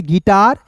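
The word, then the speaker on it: guitar: तो ये रहा दोस्तों आपका जो है साइलेंट लेटर। बिल्कुल ध्यान से देखिएगा। जी यू टी ए आर को क्या पढ़ेंगे? गिटार।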